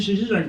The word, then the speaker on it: Szczesiak: My last name is spelled S-Z-C-Z-E-S-I-A-K, pronounced Szczesiak.